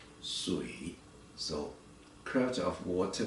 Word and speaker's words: 水: Okay, just pronounce as 水. Okay, 水, 水, 水, 水, 水, 水. The third tone, 水.